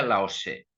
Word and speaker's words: Lao Tzu: Eh, Aunque ahora se escribe como aquí Lao Tzu, se pronuncia Lao Tse.